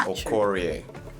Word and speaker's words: Okorie: So the next one, Okorie. Okoye is P square, right? You said no, it's Okorie.